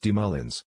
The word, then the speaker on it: Moulin: Instead, he sent him to be taught by Jacob de Moulin, pronounced de Moulins, a 28-year-old writing master.